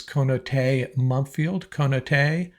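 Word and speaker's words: Konata Mumpfield: Now, I've heard different mispronunciations on this. I believe it is Konate Mumpfield, and he's out of Pittsburgh.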